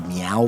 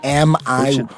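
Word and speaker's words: Miyao: Like Meow, like a kitty cat meow? But it's like Sao Paulo Meow. But it's not really like meow meow cat. It could be, but it's spelled, I think, Miyaao.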